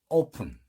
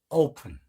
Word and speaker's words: open: 자, 우리 문을 열다 할 때 open, 오우입니다. open 이렇게 됩니다.